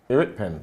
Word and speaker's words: Iriekpen: but yeah is he why do you pronounce his name eric pen eric pen yeah i've always struggled with